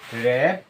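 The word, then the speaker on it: wrap: সম্পূর্ণ হিসল বা শীষ ডবলিউ এর পর যদি আর থাকে সেই ক্ষেত্রে ডবলিউটি সাইলেন্ট থাকে অর্থাৎ ডবলিউর পর যদি আর থাকে এখানে ডবলিউ আমাদের সাইলেন্ট থাকে অর্থাৎ ডবলিউ এর উচ্চারণ হয় না এরকম আমরা পাঁচটি এক্সাম্পল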